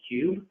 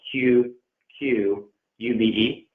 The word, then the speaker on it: Qube: recommend a middle man, a middle software called Qube. That's actually how you pronounce it. It's spelled Q-U-B-E.